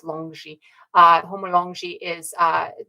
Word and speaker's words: longi: Dragon so homo longi and it would be pronounced longi uh homo longi is uh the dragon man